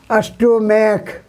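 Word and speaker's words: stomach: माने पेट होता है स्टमक स्पेलिंग होता है एस टी ओ एम ए सी एच यहां सी एच का को उच्चारण है तो इसका ईस नहीं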